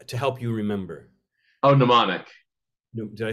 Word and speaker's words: mnemonic: help you remember oh mnemonic no did I pronounce it wrong mnemonic yeah yeah isn't it spelled MN yeah but the m is silent uh tricks right like